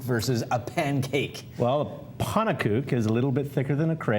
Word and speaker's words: pannenkoek: Yeah, some pannenkoeks, actually.